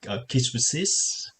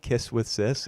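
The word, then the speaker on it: Kiss x Sis: Kiss with sis, even though there's an X there. Oh well, I always call that kisses, but Oh, it's more okay, like the X is silent.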